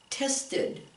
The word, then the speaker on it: tested: Here's one that ends in a T, so if we add the ED, how do you pronounce that one? Tested, tested, not tested. No, you have to actually make a whole new syllable. Tested. So instead of being one syllable now, it's two.